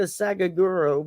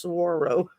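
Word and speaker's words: saguaro: earlier SRO it's it's it looks like a sagauro but it's pronounced Saro so they this is the most important uh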